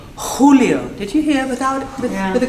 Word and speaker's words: Julio: easy, but it is in fact the one for the Scots. It's the h, and for the Germans. Any Germans here? Yes, good, right. Then they don't have a problem. They can actually just pronounce it for all of it because it's in the throat.